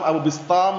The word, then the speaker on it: Abu Bistam: Abu Bustom Abu Bustom Abu Bistam bacanya memang seperti itu.